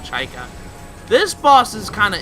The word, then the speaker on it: Chykka: think it's called Chaka I think that's how you say it I know a lot of people have called it chika I was just like no that's chica so at least that's how I pronounce that I've always pronounced it Chaka this boss is kind